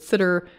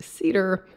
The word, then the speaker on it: CIDR: need to get into cider but not that kind of cider here we're talking about classless inter-domain routing cidr i refer to it as cider some people pronounce it sitter i've even heard cedar but regardless cidr this